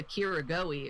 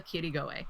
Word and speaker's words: Kirigoe: Like the R was a little bit more. It wasn't Mima Kirigoe. It was like Mima Kirigoe, and I was like, oh, they did it.